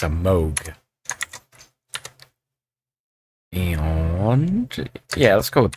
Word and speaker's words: Moog: In the first commercial synthesizer, it's actually pronounced with an O sound despite its spelling. It's a Moog.